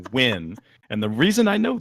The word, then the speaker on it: Nguyen: Paul's last name is n G u ye N and it is a Vietnamese name yes and you if